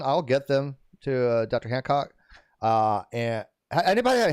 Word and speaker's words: Hancock: Hancock. And anybody, how do you want to pronounce? How do you pronounce that? Is it Hancock? Hancock, okay. Yeah, like John Hancock.